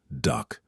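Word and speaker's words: DUKW: Du kew, pronounced duck.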